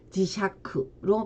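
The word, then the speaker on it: 磁石: 자, 석유할 때는 세키유, 암석할 때는 간세키, 자석할 때는 지샤크로 발음을 합니다.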